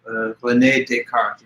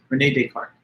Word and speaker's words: René Descartes: Descartes, this is a French name, so there's a little difference from the English style of pronunciation. René Descartes, it's like a French name. But anyway, René Descartes.